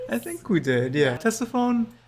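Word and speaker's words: Ctesiphon: think we did yeah Tessa phone it's spelled with a c uh a little bit confusing but I said saxophone last one um looked it up it's testify I've said Contessa phone at times but no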